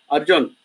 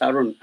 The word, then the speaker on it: Arun: Harleen Shroff asks, "Hi, Arun, Arjun. Hey, Arleen, you got my name wrong. I'm not going to answer you. It's not Arjun, it's Arun."